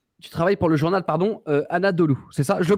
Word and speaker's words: Anadolu: Tu travailles pour la ligne éditoriale, en fait, tu travailles pour le journal, Anadolu, c'est ça? Je le prononce bien? Anadolu, c'est une agence de presse.